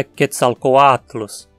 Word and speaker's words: Quetzalcoatlus: No nome do deus Quetzalcoatl, tanto o O quanto o A são vogais longas. O A sozinho aqui forma a penúltima sílaba, e como ele é longo, ele precisa receber o acento. A pronúncia então é Quetzalcoatlus.